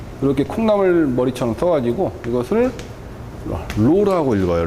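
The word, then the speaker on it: ρ: 이렇게 콩나물 머리처럼 써가지고 이것을 로라고 읽어요.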